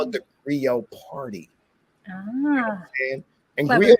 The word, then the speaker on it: griot: They have a hard enough time saying griot. People say griot, you know what I'm saying? Like in French, the T is silent, it's griot.